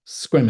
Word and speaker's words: Sequim: Look at the way Sequim is spelled. If you say Sequim, we know you're visiting.